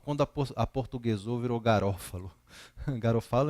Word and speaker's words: Garofalo: Na verdade, se você for usar a pronúncia, é Garofalo, né? A obra de Garofalo, que alguns falam Garófalo, Garofalo, mas acho que quando você fala em italiano, porque ele é um italiano, o correto é Garofalo.